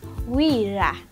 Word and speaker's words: wira: Then our next word is wira. Wira. So wira, it is spelled as W-I-R-A.